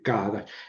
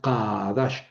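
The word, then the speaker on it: קדש: A ver si la pueden pronunciar con la parte de atrás de la garganta, no como la CAF, ¿no? De qui, sino con más atrás, no sería Kadash.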